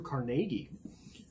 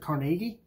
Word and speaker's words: Carnegie: the name of Andrew Carnegie. Many people say Carnegie. I am scarred by my high school freshman history teacher who pronounced it Carnegie. So I unwaveringly pronounce it Carnegie when I am talking about him.